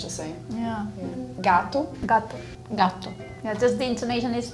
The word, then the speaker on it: gatto: It's like you slightly stop at the first T and then you pronounce the second one. Is the like emphasis on the to or the ga? Gato. Gatto. Gatto. Gatto. I think it's on the A. Ga. That's the accent.